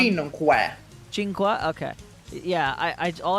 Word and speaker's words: cinque: No, that's how it's pronounced in Italian. You pronounce it like ch.